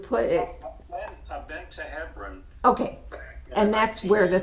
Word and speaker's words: Hebron: In Hebron, or how you might pronounce it, Hebron, Hebron, but it's really Hebron.